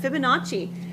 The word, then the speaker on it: Fibonacci: Excellent, Fibonacci.